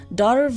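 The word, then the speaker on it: Damh: They're called Darv and Dove, and Darv is spelled D-A-M-H, and I only know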